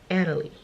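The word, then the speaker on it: Analie: No, it's Anna Lee. So you pronounce it all together.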